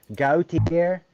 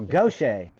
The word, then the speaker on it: Gautier: and I was like, I passed the sign, Gautier. He's like, what? Gautier? I don't know. He said, oh, Gaucher. I Yeah. was like, Gautier is Gaucher?